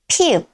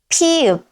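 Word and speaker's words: 피읖: Next is pi-eup. Its name is pi-eup, pi-eup.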